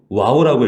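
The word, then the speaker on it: וו: 자, 그리고 중간에 있는 자음, 이 자음이 와우라고 읽어요. 바브라고도 읽기도 하는데 와우라고 하는데 이 숫자는 6입니다.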